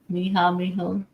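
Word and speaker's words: mija: Miha? It's daughter. Is that how you say it? Mm-hmm. Miha. I tried to repeat it like I heard it.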